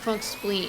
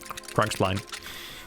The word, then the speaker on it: Crunkspleen: Crunkspleen, Jam. It's pronounced Crunkspleen. He pronounces it the American way. Crunkspline. Don't say Crunkspline, you're gonna get in trouble. Ooh, interesting. So spelled like spline.